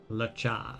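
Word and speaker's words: Luocha: Lo-cha! Is that right? I remember it. Lucha. Okay, so the O is silent. I thought it was Lucha, but I guess that would be OU, not UO, right?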